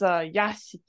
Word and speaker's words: yashiki: This means mansion, but like as in the estate grounds. Remember what this so word was? It's pronounced as zoku, zokushiki. It is yashiki.